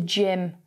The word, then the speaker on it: gym: can hear here the gym junkie the g is a soft g it's not a hard